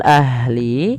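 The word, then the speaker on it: أهل: Pada lafal ahli, alirkan nafasnya ahli dan jangan sampai memantul dalam lafal huruf ha.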